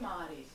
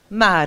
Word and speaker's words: MAARÏ: Do you say the two A? I would say MAARÏ. MAARÏ.